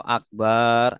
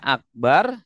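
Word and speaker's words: أكبر: Ya, kalau akbar artinya itu bedug. Ya, artinya itu bedug. Kalau akbar maha besar. Nah, ini ada nggak yang selama ini baca takbiratul ihram seperti itu? Kurang teliti. Harusnya akbar, bacanya akbar.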